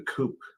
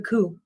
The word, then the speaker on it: coup: today we're talking about the coop the coup the coup not our coops the spelled Coop yes but that's a silent P dear it's a good